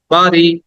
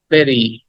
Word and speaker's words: bury: Okay, the next word is, আমরা এটাকে অনেকে বলি বিউটি, অনেকে বলি বাড়ি, কিন্তু উচ্চারণটা হবে ভেরি।